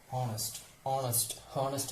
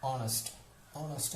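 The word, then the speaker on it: honest: അവർ എന്ന് പറയുമ്പോൾ അതിന്റെ ഉച്ചാരണം എന്താണ്? വവൽ സൗണ്ടാണ്. അതുപോലെ തന്നെ ഹോണസ്റ്റ് എന്ന് പറയും, ഓണസ്റ്റ് എന്ന് പറയുമ്പോൾ അതുപോലെ എയർ എന്നാണ് ഇതിന്റെ പ്രൊണൗൺസിയേഷൻ വരുന്നത്.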